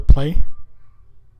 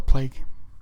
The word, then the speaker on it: Plague: And there's feedback at the end of the track, and it segues right into the play. Mispronounced it. It's called The Plague.